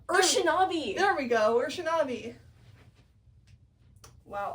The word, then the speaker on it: Urshanabi: I still don't know how to pronounce his name. I'm calling him the boatman. No, it's like Urshanabi. Urshanabi.